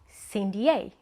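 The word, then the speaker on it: CYN D'A: would you no no no no no that's wrong the right pronunciation would be Cindy a Yeah right I don't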